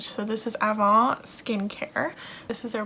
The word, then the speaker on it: Avant: going to pronounce it we're going to pronounce it like in french so this is avon skin care this is